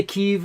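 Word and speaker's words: Kyiv: i'm trying to say keeve and not kiev because kiev is the russian pronunciation and want to be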